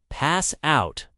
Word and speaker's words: pass out: The stress is on out. Pass out.